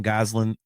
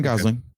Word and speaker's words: Gosling: some people are kind of questioning the Ryan Goslin uh thing or uh did I just get his name wrong? No, Ryan Gosling.